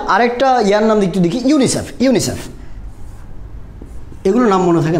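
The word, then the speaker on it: UNICEF: এভাবে উচ্চারণ করছি না ইউএনআইসিইএফ এভাবে বলছি না কীভাবে বলছি একটা কমপ্লিট ওয়ার্ড আকারে উচ্চারণ করছি that's why it's call acronym কী বলা হচ্ছে অ্যাক্রোনিম আর অ্যাক্রোনিমগুলোর আগে কখনো আর্টিকেল বসে না।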